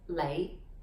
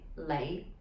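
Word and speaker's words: 李: popular surname is lee which in cantonese is pronounced as lay the low-rising lay okay uh yes if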